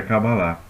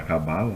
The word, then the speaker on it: Kabbalah: que fala sobre a Kabbalah. E, né, a pronúncia judaica é Kabbalah, a gente fala Kabbalah, né, mas é Kabbalah.